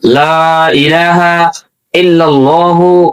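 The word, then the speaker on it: لا إله إلا الله: যদি বলেন লা ইলাহা লা এটা তিন আলিফ টানা এটা টানতে হবে কমপক্ষে এক আলিফ টানা ফরজ।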